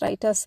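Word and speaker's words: Reuters: across the word Thompson writers r t RS pronounced as writers company has a portfolio of products and services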